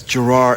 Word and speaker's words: Gerard: we do the opposite in Scotland it's Gerard it's like the it's yeah gered it's the emphasis on the first part but here in America it's Gerard and it goes Gerard